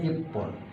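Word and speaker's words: 一本: হন ইচি যোগ হন কিন্তু উচ্চারণটা হবে ইফন উচ্চারণটা হবে ইফন উচ্চারণটা হবে ইফন ইচি যোগ হন ইফন হবে এটা স্পেশাল যদি দুইটা হয় তাহলে নি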